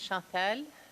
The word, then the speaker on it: Chantelle: My name is Chantelle, which rhymes with dental.